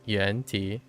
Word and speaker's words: Yuan-ti: If that's using like Chinese pronunciation, right? It'd be Yuan-Ti. Actually, we don't know the tone.